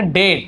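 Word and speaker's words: debt: अब इसे बोलेंगे डेट। यहाँ पे डेप्ट लिखा हुआ है, लेकिन बी क्या होता है, साइलेंट होता है।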